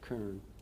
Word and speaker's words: cairn: And a reference point, C-A-I-R-N, cairn, or kern. Heard it pronounced a couple different ways.